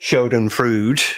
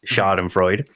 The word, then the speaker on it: Schadenfreude: Obviously, Shoden Frood. Yes. Which is, for everybody else who speaks the English language, it's Schadenfreude, even though it's a German word.